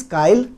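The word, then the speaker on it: chyle: चाइल बोलिए, काइल बोलिए, एज पर the pronunciation it इज काइल।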